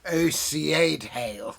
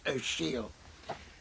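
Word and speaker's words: Ó Siadhail: amazing poet it's spelt like this is like ocad hale but it's actually pronounced oh she'll he's a really first-rate poet and he's he's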